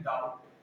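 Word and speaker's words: doubt: बी से पहले, टी से पहले बी है तो इसमें क्या रहता है? बी साइलेंट रहता है, इसे क्या बोलते हैं? डाउट, बी नहीं आता इसमें, ठीक है ना।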